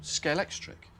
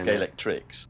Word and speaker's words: Scalextric: Scalex plus electric became Scalextric and that's why nobody can pronounce it properly. Well, they all do it the wrong way around. Yes. Everyone says scalectrics.